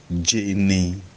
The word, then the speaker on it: Jene: Then we have also Jene, pronounced Jane.